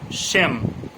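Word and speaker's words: shame: যেমন পূর্ববর্তী স্বর এ হলে তার উচ্চারণ দীর্ঘ এ হয় ও অন্তিম ই এর উচ্চারণ হয় না, যেমন শ্যাম, এস এইচ এ এম ই, শ্যাম, শ্যাম মানে লজ্জা যেটা।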